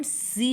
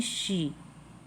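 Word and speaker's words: she: एस एच ई शी इसे हम सी नहीं बोलेंगे इसे हमें बोलना है शी इसका मतलब भी वह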